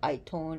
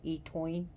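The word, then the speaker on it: Étaín: oh God eat I coin spells e t e with a hyphen t a i n and I I has a hyphen so it'd be itone or etoin in the Gaelic language the stories about her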